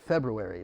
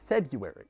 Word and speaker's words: February: Nobody ever pronounces it February. It's February. Everyone says Feb and then puts the U between the R and the A.